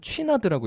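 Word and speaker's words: Chouinard: 그래서 뭐 럭비 티셔츠나 뭐 등산복이나 왜냐면 이 이본 쉬나드라고 하는 사람이 이 매니아들은 취나드라고 읽더라고요.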